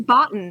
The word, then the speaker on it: Bottin: different in my head oh it's written Boton it's absolutely pronounced Boton but you are talking